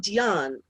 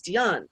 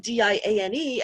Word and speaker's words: Diane: my aunt is named dion and actually it used to be spelled like diane but the french pronunciation is dion is my family french